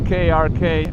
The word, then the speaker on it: Krk: hard to pronounce uh it's spelled krk we call it K but I don't know